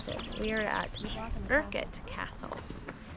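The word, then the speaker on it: Urquhart: Well, we watched a video and so now I know how to pronounce it. We are at Urkett Castle right on Loch Ness.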